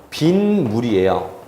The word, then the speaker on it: 빗물: 자, 원래는 비 더하기 물이에요. 그런데 비의 물이기 때문에 시옷이 들어가요. 그런데 이 시옷은 그냥 발음이 안 되기 때문에 디귿으로 바뀌어요. 그런데 디귿 더하기 미음 하면은요, 비음화가 생기기 때문에 디귿이 니은으로 바뀌어요. 그래서 발음은 바로 뭐냐면 빈물이에요.